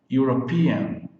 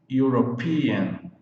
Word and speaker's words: European: Começa com vogal, com E, mas na pronúncia, a pronúncia é de U. Então, é considerado som de consoante. European, European, European, European, europeu.